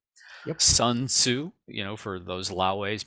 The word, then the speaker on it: Sun Tzu: it was 500 bc so i think his pronunciation is sun tzu sun tzu you know for those